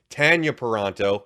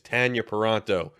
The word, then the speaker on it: Tanya Paronto: Chris Paronto, Tanya Paronto, and yes, it is pronounced that way. I'm used to saying Tanya for everybody else with the same name spelling, but they will both insist to me it is Tanya Paronto for those keeping score at home.